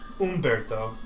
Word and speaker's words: Humberto: his name is Humberto Umberto hum the H is silent in Spanish hum Barto H is